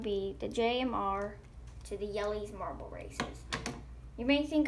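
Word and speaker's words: Jelle's: are going to be the jmr to the jelly's marble races you may think I'm mispronouncing that but that's actually what it is it's called it's pronounced jelly's I'm just gonna use a pen for this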